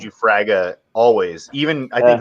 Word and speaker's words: Fraga: You guys have been saying, you guys have been pronouncing Fraga, and maybe that's right. I say Frega, and perhaps I'm wrong.